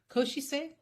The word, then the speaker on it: Košice: He comes from, you taught me how to say this, Košice or Good Košice, enough.